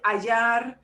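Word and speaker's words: hallar: the same thing in contrary means to find ayar and we don't pronounce the aceh that means also to fine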